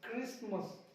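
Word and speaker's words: Christmas: तो क्रिसमस में टी आता है लेकिन इसको हम लोग पढ़ते नहीं हैं, लिखते जरूर हैं, क्रिसमस, क्रिसमस नहीं, क्रिसमस।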